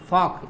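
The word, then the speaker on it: folk: silent होगा जैसे यहां पर के पहले क्या साइलेंट हो गया वह फॉक्स इसे क्या पद गया फोक टॉक वॉक ठीक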